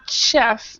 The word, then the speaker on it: chef: chef so it's not Chef it's Chef so it's kind of like an sh chef chef chef okay